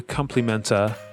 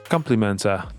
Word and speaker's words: compliment: it's customary for the compliment compliment the stress is a first is on the first syllable compliment to say nice